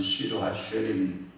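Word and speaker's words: שיר השירים: 그러니까 꼬마를 보고 아가 이렇게 부른 게 아니라 가장 아름다운 노래다 이렇게 사랑의 노래다 이렇게 해서 그래 히브리어 발음은 시루 하쉐림, 영어로는 Song of Songs,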